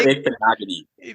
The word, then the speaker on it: Igbinoghene: Noah pronounce his name. Noah Igbinoghene.